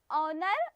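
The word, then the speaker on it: honour: जो एच और दोनों में जो एच है वो साइलेंट है। जब इसकी प्रोनाउंसिएशन होगी तो क्या आएगा? ऑनर और ऑनेस्ट।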